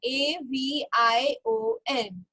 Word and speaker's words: avion: Okay, then आवियो, AVION.